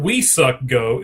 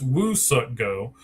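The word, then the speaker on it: Woo-Suk Go: It's not we suck go, it's Woo suck go.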